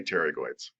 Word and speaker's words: pterygoid: up in the mouth and they're spelled paterigoid but you say pterygoids okay yeah thank you